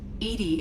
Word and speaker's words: EDI: is a jar why are you named edie edie is the phonetic pronunciation of edi that is an acronym for